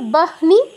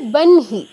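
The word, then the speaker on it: বহ্নি: ব্রাহ্ম তারপরহ ন আগে হ পরে ন যেহেতু অনুনাসিক ধ্বনি তো হওয়া উচিত ছিল বাহনি কিন্তু হবে বনহি এরকম হ এর সাথে যেটা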